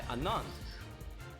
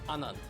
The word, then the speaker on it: Anand: it has been played by anand or anand is the right way to say h3 what is the